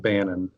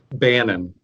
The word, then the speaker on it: Bannon: show absolutely thanks for having us you you mispronounce our names though it's it's not banning say how was it supposed to be pronounced Bannen Anand yeah oh my god yeah I know